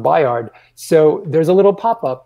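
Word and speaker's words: Bayard: buyer wrestling's name so it's spelled b-a-y-a-r-d but it's pronounced biard so there's a little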